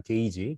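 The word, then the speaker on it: gauge: 이 단어가 이 발음이 게이지입니다. 게이지.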